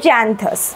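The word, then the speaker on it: Xanthias: slave যার নাম হচ্ছে জ্যান্থাস ঠিক আছে জ্যান্থাস বা জ্যান্থিয়াস যেভাবে ইচ্ছা উচ্চারণ করতে পারো তো জ্যান্থিয়াসকে তিনি জানান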